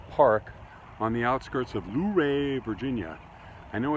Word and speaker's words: Luray: at a pleasant park on the outskirts of luray virginia i know it's pronounced luray because i've heard locals pronounce it that way